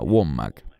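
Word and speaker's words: Wommack: celand o Andrew womac creo que se pronuncia womac quienes han publicado videos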